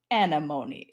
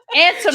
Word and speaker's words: antimony: So there's all these I'm talking normal and then all of a sudden I'm like antimony. Oh no, I said it wrong again. Antimony.